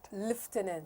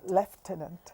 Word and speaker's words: lieutenant: Liftenant. Left tenant.